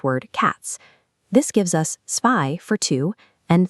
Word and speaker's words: zwei: This gives us zwei for two and zehn for 10.